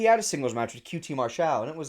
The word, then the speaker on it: QT Marshall: Call him QT Marshall. That's how you say his name. Not QT Marshall. No.